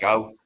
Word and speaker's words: Burscough: How do you pronounce it? Burscough.